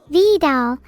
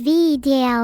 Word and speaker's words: Vedal: Vidal, pronounced as Vedal in case you're a knucklehead, has given me more sounds recently, and expect to hear a lot more crickets like I just played.